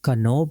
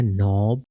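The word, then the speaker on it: knob: silent आता है जैसे कनो नहीं होगा बल्कि होगा नोब नॉक नॉट नो night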